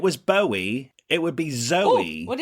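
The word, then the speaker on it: Zowie: something else in this book that calls the pronunciation into question? Yeah. is that they call their child Zoey. Zoe, like Z O W I E.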